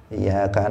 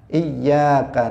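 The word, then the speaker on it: إِيَّاكَ: Nah, bahkan dalam misalnya ketika seseorang membaca Iyyaka na'budu wa iyyaka nasta'in, tasydidnya dihilangkan. Sehingga dia membacanya mengatakan Iyyaka na'budu wa iyyaka nasta'in, tidak ada tasydidnya.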